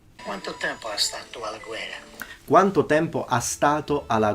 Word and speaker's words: guerra: Double R is pronounced as a double R all the time. Guerra. There are some Italians that say guerra, but they are in Rome. It's kind of a characteristic of a Roman accent that he shouldn't have. As a Sicilian, he should pronounce his double R's strongly.